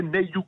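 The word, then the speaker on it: Nailloux: C'est à Nayoux. Alors ça s'écrit NAI2LOUX, mais les Toulousains disent Nayoux, c'est pas Nayoux en général. Mais vous pouvez dire Nayoux aussi.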